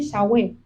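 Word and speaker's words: Yahweh: de pronun digo teoría por qué la forma correcta de pronunciar esto es que para decir las primeras la primer sílaba de yahwe uno tiene que inhalar y para decir las últimas dos uno tiene que exhalar o sea que ya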